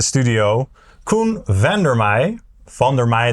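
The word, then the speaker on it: Van der Meij: Van der Mei, that's the Dutch way of pronouncing the name, but let's say Van der Mei because that's how English-speaking people say the name.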